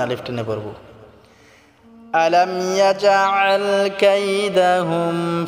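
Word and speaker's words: يَجْعَلْ: আলাম ইয়াজআল কাইদাহুম ফি তাদলিল। আলাম ইয়াজআল, আলাম ইয়াজআল, ইয়াজআল বললে হবে না, জিমটাকে শক্ত করে উচ্চারণ করতে হবে, আইনটাকে গলায় চাপ দিয়ে উচ্চারণ করতে হবে।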